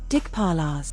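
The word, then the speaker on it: Dikpala: Dig paralas. A group deity from the Hindu tradition. Primary domain spatial order. Secondary domain boundary protection pronounced dig paral.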